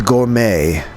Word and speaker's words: gourmet: This is the gourmet. Where do you guys say gourmet? Usually the t is silent.